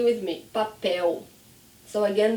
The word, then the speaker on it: papel: Okay, so another word, say with me, papel. So again, the L is at the end, papel. And remember, my tongue does not go up, papel.